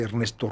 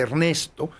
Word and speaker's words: Ernest: La importancia de llamarse Ernesto, que es un juego de Ernesto es un juego de palabras en el inglés que se pronuncia prácticamente igual, Ernest.